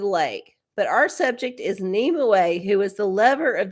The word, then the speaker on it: Nimue: Oh, pronounced Nimue.